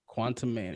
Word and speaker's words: Quantumania: How do you pronounce that? Quantumania? Quantumania.